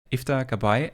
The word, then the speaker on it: Iftah Gabbai: With us today is IFA Kabay. Am I pronouncing that correct?